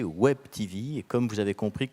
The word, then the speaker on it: Web TV: langue France française mais on m'a bien précisé qu'il fallait prononcer Web TV et comme vous avez